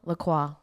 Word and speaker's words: Lacroix: christian the hold on lacroix that's how you say it but it spelled like la croix like the drink um and it's christian